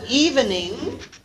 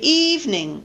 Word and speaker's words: evening: Instead of evening, most of these you're familiar with, I think, right? We say evening, evening.